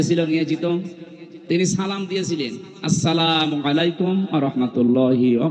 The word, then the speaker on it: আসসালামু আলাইকুম: প্রবেশ করেন এ শব্দটাকে আজ যারা এখনো পর্যন্ত উচ্চারণ শেখেননি তাদের কপাল নষ্ট হওয়া না আজকে থেকে ঠিক করে নেবেন আসসালামু আলাইকুম আদম থেকে শুরু করে আমাদের নবী পর্যন্ত প্রত্যেকের